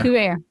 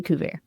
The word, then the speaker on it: Kuva: So, uh, Cou and is that how you pronounce the name of the company? Yes. Cou.